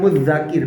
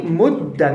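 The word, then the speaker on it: مدّكر: masalah itu apa asimilasi maka bacanya menjadi modar bukan Muzakir bukan Muzakir nggak tapi muda jadi lebur ya kan kemudian berubah jadi bunyi dah begitu dan tulisannya juga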